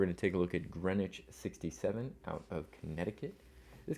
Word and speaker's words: Greenwich: I think the witch here obviously is making light of the name, which looks like Greenwich, although I guess is always pronounced Greenwich and goes back to England, where the name is originally from.